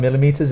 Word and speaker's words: millimeter: so it's a thousand millimeters is in one meter so that's double l i for that and for pronunciation we put the stronger sound again on the first and the third millimeter millimeter micron it's